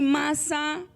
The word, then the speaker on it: Masá: Y Masá, no masa de tamales, pero Masá, así ayúdeme cómo se pronuncia.